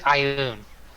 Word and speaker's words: ioun: gold anyone no other the pronounce it's ioun there we go I